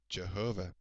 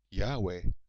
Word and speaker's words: Jehovah: In English it is usually pronounced Jehovah, but some people pronounce it Yahweh.